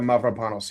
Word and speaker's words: Mavropanos: I want to make sure I get this pronunciation. Oh, correct. yeah, Mavropanos, yeah.